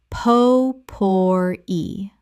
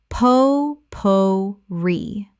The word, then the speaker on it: potpourri: Common mispronunciation. Po-por-e. Correct pronunciation. Po-po-ri. Three syllables with the stress on the final syllable. From French.